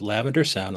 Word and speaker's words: Lavender Sound: This is Lavender Sound. Let me spell that out. L A V E N D E R.